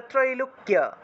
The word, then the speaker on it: ত্রৈলোক্য: নিশুম্ভ শুম্ভ নির্নাশী ত্রৈলোক্য, এখানে দেখুন কয়ের সাথে জফলা আছে, কয়ের সাথে জফলা থাকলে কিয় উচ্চারণ হয়, কিয় কিয়, অর্থাৎ জফলার জন্য ই এবং ও উচ্চারণটা চলে আসে। তাহলে ত্রৈলোক্য ত্রৈলোক্য শুভদে শুভদে শুভদে